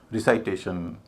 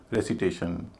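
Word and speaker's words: recitation: लेकिन बाद के जो 4 शब्द हैं उनको वैसा नहीं बोलते। रिसाइटेशन, इनवाइटेशन, प्रोनाउंसिएशन, डिज़ाइनेशन। क्या आपने किसी को सुना इस तरह बोलते हुए? नहीं। हम इनको बोलते हैं रेसिटेशन, इन्विटेशन।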